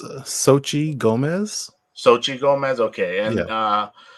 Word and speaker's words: Xochitl: Do you know how to pronounce her name? I believe it's Xochitl Gomez.